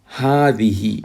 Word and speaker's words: هذه: It is pronounced هذه with the elongation, but the alif is omitted in writing.